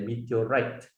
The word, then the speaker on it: meteorite: The T sounds a very heavy pronunciation there, meteorite, right?